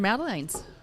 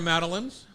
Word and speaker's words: Madeleine: Everyone has their Madeleines. How are your Madeleines? Madeleine. Not Madeleine.